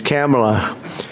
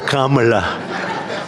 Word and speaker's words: Kamala: this because, you know, your first name is very similar to a first name that we have, but fortunately it's pronounced different. It's Kamala, as opposed to Kamala. I like Kamala better in many ways.